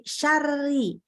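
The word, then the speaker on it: شرعي: bukan ori bukan ya Nah ini contoh syar'i nah ini hati-hati ya ada yang menanyakan kan ini sebelum huruf ro itu kan fathah kok bacanya RO nya tipis Nah karena gini karena dia tasdidnya kepada huruf ro yang kasroh maka dia bahkan pas sedang masuk tasydidnya itu sudah langsung tipis jadi syar'i syar'i gitu ya soalnya adalah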